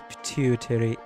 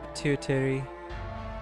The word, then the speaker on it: pituitary: What does pituitary mean? How is it pronounced? Pituitary. Pronunciation, please. Pituitary.